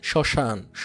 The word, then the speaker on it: শ্মশান: হ্যাঁ, শ্মশান, শান, মফলা থাকার কারণে।